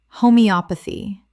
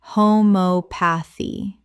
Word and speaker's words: homeopathy: uterus uterus Word 73 homeopathy Common mispronunciation homoeopathy Correct pronunciation homeopathy The stress falls on the third syllable. op Five syllables in total.